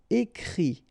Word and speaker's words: écrit: And then the IT, phonetically you pronounce I because final T is not pronounced, but still. Écrire, to write. Écrit.